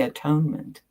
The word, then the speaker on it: atonement: The first syllable is at. The second is one. The last syllable is meant. This Latin ending meaning state of being. So whenever you see anyone talking about the atonement, you might want to